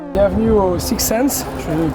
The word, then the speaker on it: 6Sens: bienvenue au sixens je prononce bien oui 6ens ouais on va le